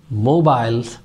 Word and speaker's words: mobile: Yes, the mobile phone that we use. British, they say it mobile, mobile, and Americans, they have mobile, mobile, mobile, mobile.